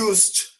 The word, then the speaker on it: used: Quando você for pronunciar a palavra I used, não se esqueçam, o verbo no passado termina em ed, então é um verbo regular, certo? Ele não pronuncia o ed, nunca pronuncia o ed.